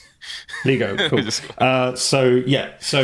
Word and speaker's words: LiGo: Lego.